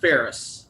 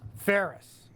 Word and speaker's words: Pharies: It's pronounced Pharies. Pharies, like Tim Yes. Ferriss. Yeah, Okay. as in Ferris wheel, correct.